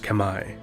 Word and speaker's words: Khmer: more about the the khmer empire which is now modern day cambodia the kemmer correctly pronounced kamai or khmer or cameron english are an